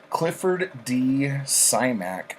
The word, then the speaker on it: Clifford D. Simak: This is Clifford D. Simak, I think is how you pronounce it.